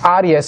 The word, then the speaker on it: Aries: indicate the constellation of i don't know you pronounce that in english aries a-r-i-i-e-s it's arias for me because this is latin so whatever you want to pronounce these aries which is the ram